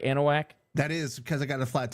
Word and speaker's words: Anahuac: Anahuac?